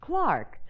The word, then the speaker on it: clerk: Do you wish to see a clerk? Frankie. Yeah. What did the Bengal Lancer say? He wants to know if you want to buy a clock. In England, the word clerk is pronounced Clark.